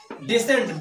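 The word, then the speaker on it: descend: डिसेंड, डिसेंड means होता है उतरना। अब यहां पर सी का कोई उच्चारण नहीं है।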